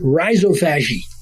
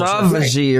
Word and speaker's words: rhizophagy: Uh but I pronounce it rhizophagy. I'm blunt. Google likes to say rhizova- I can't even say how Google says it. Rhizovagy or something.